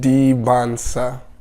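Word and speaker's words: Dybantsa: Debonsa. Just forget the T. Silent.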